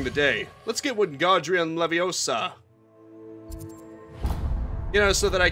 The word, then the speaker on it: Leviosa: Anyway, as I was trying to say, I remember when Wingardium Leviosa best for Hermione judging Ron for not pronouncing it properly. It's Leviosa, not Leviosa.